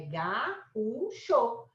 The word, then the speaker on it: gaúcho: É gaúcho. Mineiro. O que a gente tem aqui, ó? Aqui eu tenho vogal, sozinha é vogal, tem até acento. Então, aqui eu tenho hiato, tá vendo, ó?